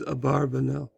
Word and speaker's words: Abarbanel: name so that equals different interpretations of how the pronounces name the more normative position amongst Jews is these a barber now his style show you